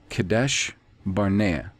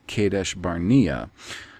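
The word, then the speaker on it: Kadesh Barnea: israelites quote came to kadesh barnaya not v i the the b is not pronounced v kadesh barnaya deuteronomy 1 19. kadesh barnaya is vocalized as kadesh barnia however the town in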